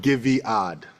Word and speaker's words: Guyviaud: to say it right giad Joseph give a little give a lot give odd give odd okay now I remember